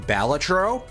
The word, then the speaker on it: Balatro: I've been pronouncing it wrong for a while. It's actually pronounced Balatro.